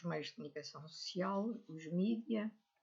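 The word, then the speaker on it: media: E o jornalismo, ou os meios de comunicação social, os mídia, que em inglês se escreve com E e eu leio à inglesa e acaba por ser como se fosse em português do Brasil, com I, mas os mídia, ou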